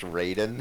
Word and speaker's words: Raiden: thinking of asking so is it like actually pronounced Raiden throughout the whole series yes it's spelled it